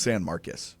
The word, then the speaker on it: San Marcos: It's pronounced San Marcus. Really? I'm 99% sure. That's crazy. Yeah, it looks like San Marcos, but I believe it's pronounced San Marcus.